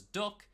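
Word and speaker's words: DUKW: over both land and water the Dirk also pronounces duck now offers rides to famous landmarks and launches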